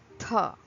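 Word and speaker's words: थ: So it is pronounced as tha, like the sound at the start of English words thaw or theatre, theatre. Actually, this is an aspirated version of tha.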